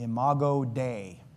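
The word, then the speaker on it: imago Dei: I call this the imo day. So, that is spelled as two words. I m a g- o is the first word. D EI is the second word and it's a Latin term which means image of God.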